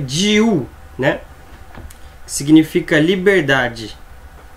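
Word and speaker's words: 自: Esse na pronúncia on se chama ji, na pronúncia kun, mizukara, né?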